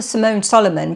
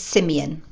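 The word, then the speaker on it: Simeon Solomon: His brother Simone Solomon became well known for his richly imaginative paintings. Pause for a second. The actual correct pronunciation I've since found out is Simeon.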